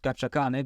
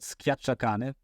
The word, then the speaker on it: scacciacane: one thing we didn't talk about, well, I learned already one thing, which is I mispronounced scacciacane because I always said schiacciacane, but you're not squeezing the dog, you're scared.